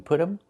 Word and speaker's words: put them: We make a reduction. We say put them. The t changes to a fast d. Put them. Put them. And you hear um instead of them.